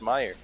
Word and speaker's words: Meijer: He goes where we come from we call it Meijer. It's spelled Meijer, but I guess they say Meyer.